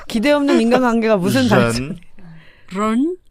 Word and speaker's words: 人: 사람들은 그냥 ren 이렇게 하는데 런, 사실은 그게 R 발음이 아니고요. ren. R과 깊은 우리나라 왜 옛날 세종대왕 시절에 세모 글자 있었죠. 세모. 그게 즈 이런 발음이잖아요. 그 발음이 섞인 거야.